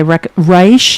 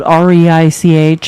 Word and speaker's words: Reich: I reich is spelled REI CH.